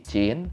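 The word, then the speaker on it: Qin: sama nama dinastinya tuh Jin ya tulisannya kin tapi Q itu kalau bahasa Cina dibacanya CH jadi cincin Cina oke ya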